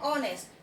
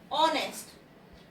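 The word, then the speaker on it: honest: एन ऑनेस्ट, यहां भी शुरुआत ओ से है, ऑनेस्ट, इसलिए यहाँ पे भी एन लगेगा।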